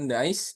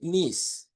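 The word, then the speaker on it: niece: And then eh the next selanjutnya teman-teman kalau keponakan perempuan itu dibacanya bukan nice ya, bukan tapi ya. Dibacanya itu bukan nice tapi nis teman-teman ya. Dibacanya itu nis.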